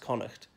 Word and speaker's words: Connacht: you didn't know the Western one is Connacht pronounced Connacht not court I've heard some English people who